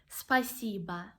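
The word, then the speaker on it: спасибо: world actually spasiba spicy but again we have the letter O but we pronounce it like a ah spasiba and I love you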